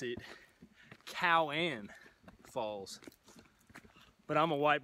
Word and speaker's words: Keown: end up pronouncing it Keown but it's actually a Cherokee word I don't look for